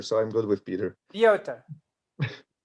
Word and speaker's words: Piotr: Okay, it's Piotr. It's like Polish version of Peter, so I'm good with Peter. Piotr. All right. Piotr.